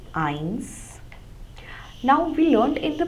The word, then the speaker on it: eins: Starting from 0, 0 we say null, 1 we say eins. Now we learned in the previous lessons that S has the sound of Z. But whenever the letter S occurs at the end of a German word,